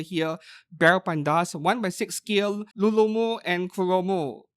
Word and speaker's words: Rurumu: scale Lulumu and Kuromu, or the actual name is Rurumu and Kuromu. You know, just like me, some Japanese people, they can't pronounce the alphabet R very well, so R will sound like L depending on who you're speaking to.